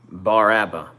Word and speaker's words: Bar Abba: When I see this hat, I see Bar Abba. If you don't know, in Hebrew, the bet in modern Hebrew is pronounced as a B. BR is bar, AVE is Abba.